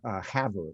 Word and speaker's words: Havre: And finally up to Havre is how they pronounce it, and spent a couple days up there for the book.